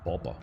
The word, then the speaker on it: Boba: far better name so has anyone seen bobber fat it's bobo no it isn't it's boba bob bob listen to henry tillerson on jabba's bar she pronounces it boba yeah i i didn't i didn't realize that i've always thought it was just bobber i've always read it as bobber boba fett slave one